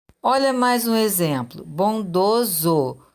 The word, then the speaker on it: bondoso: olha mais um exemplo bondoso som de z então escrevo com essa também temos poetiza com